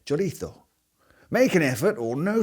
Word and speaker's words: chorizo: Paella, and Roija Chorizo It’s not pronounced chor-itzo because it’s not Italian. It’s Spanish and they call it chor-ee-thoe.